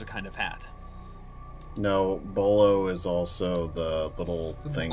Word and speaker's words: bolo: you use to well that's a bolo not a Bola it's actually three little